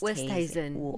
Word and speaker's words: Oosthuizen: Am I Wasen? Am I saying your name right? Yes. Wasen. Yeah. No, you're pronouncing it very well.